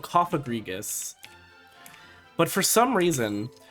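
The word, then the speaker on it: Cofagrigus: Well, for those of you who don't know, the Pokemon is called Coffagrigus. But for some reason, some people love to put emphasis on that second syllable and make it Coffagrigus.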